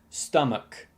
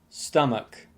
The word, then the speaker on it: stomach: end of the word many people often pronounce it like stomach like watch or touch and so on however it's actually pronounced stomach stomach if you can stomach it i'd like it